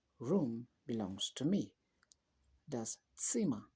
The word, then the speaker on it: Zimmer: Das Zimmer. Remember, Z is pronounced like a ts for tsetse fly. Das Zimmer gehört mir.